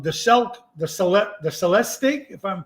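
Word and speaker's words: Celestiq: Cadillac 2024 um the celt the Celeb the Celeste stick if I'm pronouncing it right c-e-l-e-s-t-i-g the new electric Cadillac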